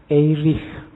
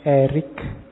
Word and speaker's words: Erich: erish from membacanya Kalau bahasa aslinya karena lahir di Jerman orang Jerman membacanya eich from tapi nanti dia saat sukses hidupnya di Amerika orang Amerika membacanya lebih suka pakai Erik Jadi belakangnya k makanya kita membacanya santai aja